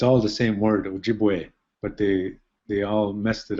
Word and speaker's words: Ojibwe: So using the current orthography, we would spell Ojibway, and we're mispronouncing it when we say Ojibway. We should say Ojibwe, O-J-I-B-W-E, Ojibwe.